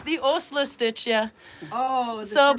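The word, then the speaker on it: Åsle: because A with a circle over it, S-L-E, is pronounced Osla. So it's the Osla stitch, yeah.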